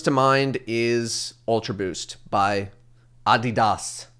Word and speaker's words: Adidas: mind is ultraboost by adidas adidas however you want to call it adidas i know is not the correct pronunciation but nobody does that